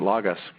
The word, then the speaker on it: Logos: what we're doing at log us or logos we use both pronunciations is trying to deliver